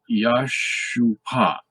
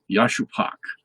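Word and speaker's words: ישופך: And that would be pronounced Yashupak. Yashupak.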